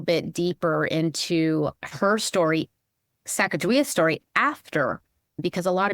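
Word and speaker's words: Sacajawea: Even the way we say her name, the Shoshones refer to her as Sacagawea with a J. Growing up, that's how we said her name. That's how we spelled it.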